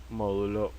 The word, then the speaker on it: módulo: su módulo y dirección módulo con acento en la o Okay vamos a hacerlo